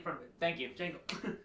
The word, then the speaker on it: Django: Django got his head removed by Mace Windu. Yeah, No, Django. No, Django with the D in front of it. Thank you. Django. The D is silent.